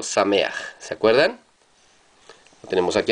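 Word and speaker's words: שמח: Aj y no ja, como en sameaj, no se dice sameja, sino sameaj.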